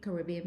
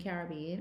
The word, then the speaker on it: Caribbean: in the world, especially Caribbean people. I know why I go between Caribbean and Caribbean, but don't worry about it. I move interchangeably between the 2 pronunciations.